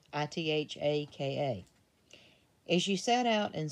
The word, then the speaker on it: Ithaka: I think it's Ithaka, Ithaka.